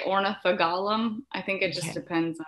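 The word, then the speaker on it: Ornithogalum: h o g l i say ornithoglum other people say ornitha gollum i think it just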